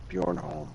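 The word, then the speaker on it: Bornholm: How to pronounce. Okay, here it is. Bjornholm.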